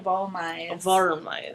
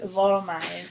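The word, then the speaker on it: Wollmeise: As Steve at Dramatic says, let's see, it's Wormize, because it's the W is pronounced V, the O is like as in dog, and the L's are actually pronounced like R's in Spanish. It's more like Volmize.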